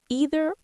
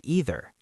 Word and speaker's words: either: Some people say either with a long e sound.